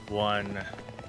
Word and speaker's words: ONN: A friend of mine said they went and bought one. Oh, it's ONN. So on, I guess is how you pronounce the brand.